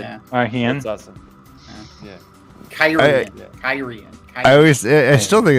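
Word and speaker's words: Cairhien: Hey, Tom, how did you pronounce Kyrian in your head before you heard it? Oh man, Karhainen. Karhain or something. I did. Yeah. Karhain. That's awesome. Yeah. Kyrian.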